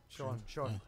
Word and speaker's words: Sean: either YouTube and type in the Mike and Sheen. Sean. Mike and Sheen Show. Sheen is spelled S-E-A-N.